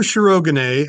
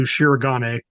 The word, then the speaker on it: Shirogane: what 2014 um Rue shogan has a very familiar last name and I am using the pronunciation they use on the show a lot of people anglicize it to shiran but in any case